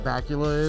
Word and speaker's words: Bakula: Can we just talk about how dope of a name Scott Bakula is? Dude, it's like... It rhymes with Dracula.